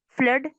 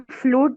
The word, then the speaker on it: flood: इसको हम फ्लूड नहीं कहेंगे, जैसे ब्लड की स्पेलिंग होती है, एग्जाम्पल दे रही हूँ आपको। ब्लड की स्पेलिंग होती है हमारी BLOOD, तो हम इसको ब्लड कहते हैं। इस तरह से ये भी है, FLOOD में स्पेलिंग करेंगे हम इसको, और ये वर्ड बनेगा हमारा फ्लड, तो ये फ्लूड नहीं होगा।